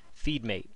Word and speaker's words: FeedM8: center com forward slash feed mate and that's spelled just like the name of this company f ee d m the number 8 ok so what feed